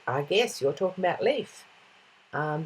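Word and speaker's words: Lief: guess you're talking about leaf um that's how you pronounce him leaf like a leaf on a tree what is your favorite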